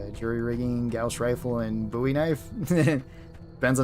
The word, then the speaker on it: Bowie: Bowie knife, still stand by that because it's named by Jim Bowie, not David Bowie.